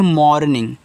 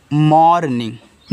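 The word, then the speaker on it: morning: एम ओ आर एन आई एन जी इसको पढ़ते हैं मॉर्निंग देखो ऐसे मॉर्निंग देखो ओ आर को आप यहां पे और इस तरीके से पढ़ते हैं ना तो यहां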